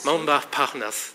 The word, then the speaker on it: Montparnasse: Montparnasse, thank you for correcting my pronunciation.